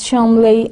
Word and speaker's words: Cholmondeley: They put milk in their tea, drive on the wrong side of the road, pronounce Cholmondeley as Chomley and Belvoir as Bever.